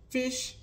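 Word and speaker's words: phish: Now, I was sort of concerned about if you think that you've been attacked with these fish is spelled P-H-I-S-H, fish, vish, or smish.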